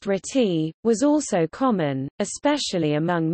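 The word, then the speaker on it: RTTY: as radio teletype or our TTY pronounced treaty was also common especially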